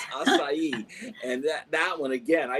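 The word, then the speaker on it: açaí: acai that's another one most people don't even pronounce it right but it's acai and that one again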